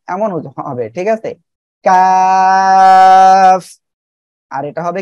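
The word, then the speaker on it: ك: ওকে, এই যে কাফ অক্ষরটা, কাফ অক্ষরটা উচ্চারণ হবে জিব্বার গোড়া থেকে একটু আগে বাড়িয়ে তার বরাবর উপরে তালুর সঙ্গে লাগে উচ্চারণ হবে, ঠিক আছে? এটা ছিল কি, কফ, তাই না? আর এটা হবে কাফ। সবাই একসাথে বলেন, ওকে।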